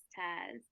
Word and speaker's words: Taz: Taz, is that how you pronounce it? Yes, Taz.